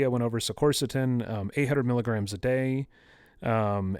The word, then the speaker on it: quercetin: it um the next one i believe it's quercetin is how it's pronounced it's spelled q-u-e-r-c-e-t-i-n um excuse me so